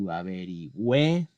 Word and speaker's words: averigüe: Averiguar needs to change into averigüe. Again, there's a rule, G-U-A, actually it's gua, but G-U-E normally is pronounced ge, except for the cases where I include this symbol.